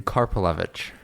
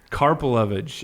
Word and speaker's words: Karpelevitch: and how do you say your last name carpage carpage okay good luck with that so Daniel you